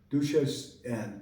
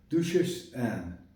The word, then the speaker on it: Duchesse Anne: Duchesse Anne. Duchesse. That's how it's said in French. Duchesse Anne.